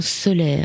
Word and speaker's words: Soler: On va en parler ce soir avec Soler. Il s'appelle Comme le soleil, mais ça s'écrit S-O-L-E-R.